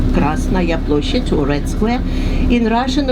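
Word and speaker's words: Красная площадь: In Russian, we pronounce it as Krasnaya Ploshchad. Krasnaya Ploshchad, or Red Square.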